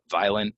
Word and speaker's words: violent: violent and violence um really like a silent o here violent violence um I try